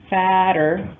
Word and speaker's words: fatter: Notice fat, but the pronunciation of the comparative form in American English, fatter, fatter, that's a flap T, and the superlative, fattest.